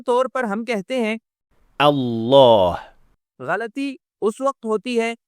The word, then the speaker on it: الله: اور بہت عام غلطی لفظ جلالہ میں لام مشدد کا درست تلفظ نہ کرنا ہے، نہ مکمل بھاری اور نہ مکمل ہلکا۔ عام طور پر ہم کہتے ہیں الله غلطی اس وقت ہوتی